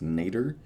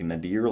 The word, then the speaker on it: nadir: Uh, but yeah, it's pronounced nater. I thought it was like nadir, like the name, but it wasn't.